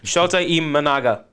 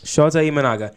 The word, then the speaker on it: Shota Imanaga: Shota Imanaga. Nice. Shota Imanaga.